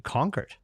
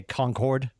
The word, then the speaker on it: Concord: they actually pronounce it conquered or or or like you get people that say Concord instead of conquer like conquer's like a regionalism up here in New England right which obviously you